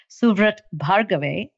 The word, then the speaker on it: Suvrat Bhargave: very dear friend and his name is officially pronounced suat bhave but I think he also is fly known